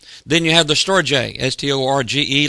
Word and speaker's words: storge: Then you have the storge, S-T-O-R-G-E, long E, pronounced storge.